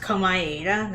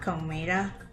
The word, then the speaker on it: Komaeda: Wait, it's pronounced Komaeda, not Komeda?